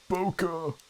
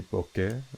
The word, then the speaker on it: bokeh: all of like the poco or out of focus elements i guess technically it's not like the real pronunciation would be bokeh right something like that because it's supposed to be a japanese word according to uh well